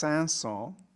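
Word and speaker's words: Saint-Saëns: mention by the way the composer's name is pronounced sansol and if you say the character's name in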